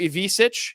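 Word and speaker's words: Ivišić: Zvonimir Ivisic, yes, I'm pronouncing that right.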